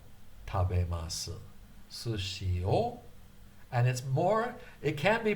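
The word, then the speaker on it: を: Sushi o. And it can be pronounced wo. Depending on the context, it often gets pronounced wo. But more often than not, it's o.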